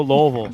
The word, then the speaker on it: Louisville: There you go, Louisville.